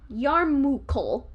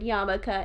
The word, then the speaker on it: yarmulke: i went a step further i went yarmulkel like urkel and you even so you you not only pronounce the word wrong but you also flipped two of the letters in it i didn't pronounce it wrong because after the second time i saw it i realized it was the word yamaka and i had just never seen it written before but the first